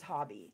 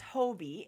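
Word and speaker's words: Hobbii: yarn she collaborated with Hobie is that how you say it well she was saying it that way so I thought it was hobby yeah but it's Hobie h-o-b-b-i-i um she collaborated with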